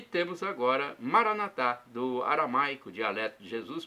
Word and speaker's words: Maranatá: E temos agora Maranatá, do aramaico, dialeto de Jesus para o português, significa vinde, Senhor Jesus. Nossos irmãos evangélicos ou protestantes colocam a tônica na penúltima sílaba, Maranata. O significado é o mesmo.